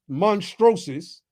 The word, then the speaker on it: monstrosus: monstrosus. Okay, that's how you pronounce it, monstrosus, and H.